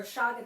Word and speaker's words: chaga: GNA be doing today making chaga tea or Shaga tea whatever it's c h a g in in case you want to know how to spell it and if you didn't read the title that's right above this video if you're watching it from YouTube David wolf says Shaga so I'm really surprised